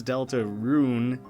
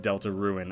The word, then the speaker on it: Deltarune: small-town upbringing we're just the first time I saw it I said it wrong and then I could never get that out of my brain oh yeah lots of people have pointed that out and they are right it is Delta rune I'm just an idiot and said Delta ruin a lot now proper